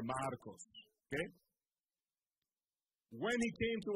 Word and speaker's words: Marcos: his name is spelled M-A-R-C-O-S, Marcos. Marcos. And I asked him for permission to be able to tell you this. M-A-R-C-O-S, Marcos. Okay? If you put the Spanish, you roll the R, Marcos.